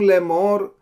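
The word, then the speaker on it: לֵאמֹר: Aleph has no pointing, so basically you ignore Aleph.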